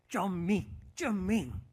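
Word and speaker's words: 遵命: 정확한 중국어 발음으로 쫌밍 이렇게 합니다.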